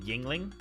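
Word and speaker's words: Yuengling: Yungling is pronounced yingling.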